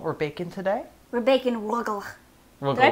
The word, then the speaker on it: Rugelach: We're baking Rugelach. Did I pronounce it right? Rugelach.